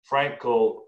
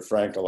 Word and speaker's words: Frankl: For those listening, if you want to Google him later, it's spelled Frankl, a little bit unusual. There's no E in there, as I recall.